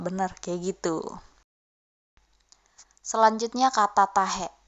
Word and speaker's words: tahe: Selanjutnya kata tahe. Tahe pengucapannya biasanya kayak ada tekanan di belakang tuh. Tahe, kayak dibatasin tahe gitu.